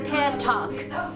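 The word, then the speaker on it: pétanque: (guitar music) - There's an accent on the first E, so you would say peh-tonk, and not puh-tonk.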